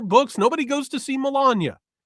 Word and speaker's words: Melania: Like, it's not it's not Melania, it's Melania.